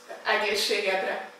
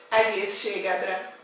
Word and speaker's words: Egészségedre: Egészségedre. Okay, again please. Egészségedre. Okay, the first part, egész. Egész. Egész. Ség. Ség. Edre. Edre. Egészségedre.